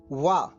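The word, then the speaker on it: 我: हमारा पहला शब्द है वह जिसकी स्पेलिंग है डब्लू वो को चीनी भाषा में आ की तरह बोला जाता है इसको बोलेंगे हम चीनी में व जिसका अर्थ होता है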